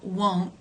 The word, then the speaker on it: won't: of funny sounding words they both have the O as in no d diff thong will not becomes won't